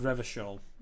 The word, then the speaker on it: Revachol: Revachol. It's pronounced Revachol.